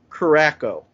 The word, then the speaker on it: Curaçao: Orange Juice, Triple Sec Ginger Beer, and Blue Curaçao. I did not pronounce that right.